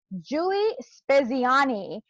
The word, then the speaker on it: Giulie Speziani: So today we have with us Giulie Speziani. I hope I pronounced that correctly.